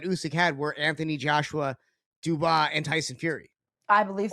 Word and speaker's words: Dubois: Dubois, yes.